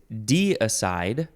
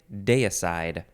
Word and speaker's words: deicide: media de-icer next word this word is D aside or day aside it is spelled it's almost spelled like decide d-e-i c-i-d-e deicide deicide noun from 1577. I think I'm going to say deicide one the act of